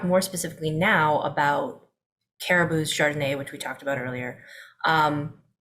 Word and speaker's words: chRDNA: So we wrote that out as a little acronym, chRDNA, which we pronounce chRDNA.